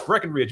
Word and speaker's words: Breckenridge: For some reason they think there's supposed to be a B in the middle of it. But uh no, it's Breckenridge.